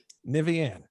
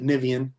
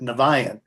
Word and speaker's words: Niviane: skinner from the band i'm going to hopefully pronounce this correctly nivean that's there you go actually it can be